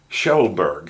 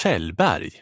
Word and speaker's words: Kjellberg: Because in Swedish, it doesn't sound that, you don't have that hard G at the end. You have another sound. It sounds like this. Felix Kjellberg.